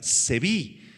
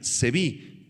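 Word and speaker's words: צבי: Esta expresión tierra gloriosa, si quieres tomar nota, en hebreo es la palabra seví, con acento en la i, es i latina, seví, tierra gloriosa, y significa tierra hermosa, la tierra hermosa.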